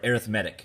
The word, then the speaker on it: arithmetic: that's because it is it's spelled the same way we're just putting a different emphasis on a different sulabha so we're saying arrhythmia or arithmetic instead of arithmetic okay as usual we